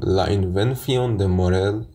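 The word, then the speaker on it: La invención de Morel: به کتاب ابداع مورل یا اگه درست تلفظش بکنم لاین وفیون د مورل نوشته آدلفوپی ی کاسارس صحبت کنم.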